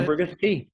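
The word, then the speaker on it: Ambergris Caye: Now, I know that your trip down to, is it Ambergris? Is that how you pronounce it? Ambergris Key.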